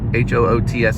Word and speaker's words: Hoots: don't know but remember it's hoots or hoots h-o-o-t-s hoots is how you say it like hoot hoots wings on the fly